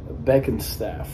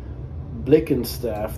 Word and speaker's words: Blickenstaff: The artist of this, both are both covers, is Stefan Beckenstaff. I believe that's how you say it. Blickenstaff. There we go.